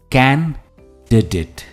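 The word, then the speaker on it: candidate: की तरफ जो है कैन डेट एंड नॉट कैंडिडेट हम डी डेट नहीं कहते द डेट है वो कैंडिडेट for example the कैंडिडेट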